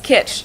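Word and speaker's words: kitsch: So you could say his home is full of 1950s kit. It means the same thing in German and in English and it's also pronounced the same.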